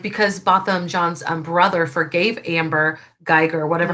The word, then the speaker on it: Botham Jean: So I lived in the Dallas area when Botham Jean or Botham John, I'm sorry, I always say Jean because that's how it's spelled, but when Botham John was gunned down in his home.